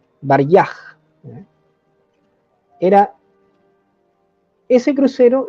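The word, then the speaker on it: Варяг: crucero ruso ya el tengo anotada aquí la pronunciación baraj Era ese crucero y un torpedero que estaban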